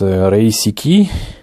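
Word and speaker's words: 零式: Donc on saura que du coup le modèle 0, ça se prononce Reisiki.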